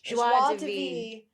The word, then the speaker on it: Joie de Vivre: Joie de Vivre. Is how you say it.